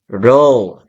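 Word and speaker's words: rho: It is denoted by the symbol R sub S or the Greek letter this one pronounced as row.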